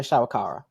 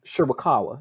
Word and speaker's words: Shirakawa: And you also have Tony Storm, Mariah May, and Mariah's tag team partner from Stardom, Mina Shawakawa. Ooh, Mhm. Shirakawa.